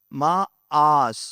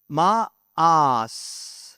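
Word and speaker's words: מאס: எபிரேய மொழியில ஒரு நோ அதை இப்படி ப்ரொனவுன்ஸ் பண்றாங்க, மா ஆஸ். சொல்லுங்க, மா ஆஸ்.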